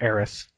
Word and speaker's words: Aerith: to the game as Eris's, or Aerith, if you're used to the new Japanese pronunciation of it.